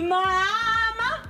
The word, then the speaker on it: mamá: Mira, parte del cuerpo, manos y mamá. No, pues es una parte nueva que acaba de salir. Es que él piensa que mamá lleva acento en la primera.